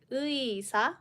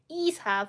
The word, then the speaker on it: 의사: example, 의사, a doctor, then we don't say 이사, for example, or 에사. We sometimes pronounce this as 에, but this time, when it is in the first syllable of a word, it is always 의사.